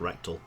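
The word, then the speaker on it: Rekdal: that person's name yeah his surname is rectal r e ke r e k d l just pronounced rectal amazing scenes yeah yet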